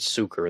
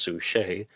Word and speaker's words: Sucher: to Jack Torrance, and I've called her Harriet Sucher in the past. Her name is spelled S-U-C-H-E-R, but I saw her on YouTube. She says her name is pronounced Sue Shea.